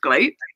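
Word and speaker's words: Gleat: Apparently, it's not pronounced Glee. It's pronounced Glate.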